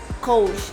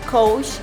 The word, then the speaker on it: Coach: ¿Sabes cómo se pronuncia esta marca? Coach. Otra vez. Coach.